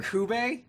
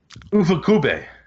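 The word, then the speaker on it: Ifukube: Did you say Akira Kube? Ufukube.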